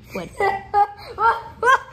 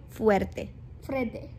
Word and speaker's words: fuerte: Me estaba riendo muy fuerte. That is too much at the same time. Me estaba riendo muy fuerte.